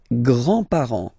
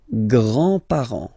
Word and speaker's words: grands-parents: And then we'll start with the grandparents, les grands-parents, les grands-parents. Remember, you don't pronounce this final S here, grands-parents, okay?